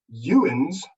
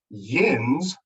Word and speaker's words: yinz: ohio navy kentucky tennessee yuan's not pronounced like that pronounced yinz believe it or not something used in pittsburgh in southeastern pennsylvania and then this use